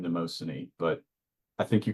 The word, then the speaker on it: Mnemosyne: Being dipped in the waters of forgetting, and then being dipped in the waters of I pronounce her name Mnemosyne, but I think you called her how do you pronounce it?